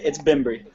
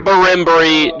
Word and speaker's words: Bembry: Google pronunciation. It's Bembry. Brembry. Bimbry. It's that simple. Bimbry. Brembry. Not Barimbry. Just two syllables.